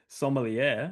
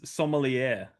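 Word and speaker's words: sommelier: Your main your main character is a somier. A wine taster. A wine taster. Yeah. What did you call him? The official term is a somier. That's the official term. Silier. Somier.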